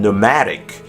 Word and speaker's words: pneumatic: P is silent before a selection of somewhat technical terms such as pneumonia and pneumatic, and it's silent before